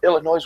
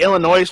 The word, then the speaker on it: Illinois: Actually, Illinois' funny state slogan is "Please don't pronounce the S."